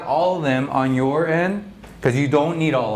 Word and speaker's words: y: E, yeah, that's how you pronounce it, E.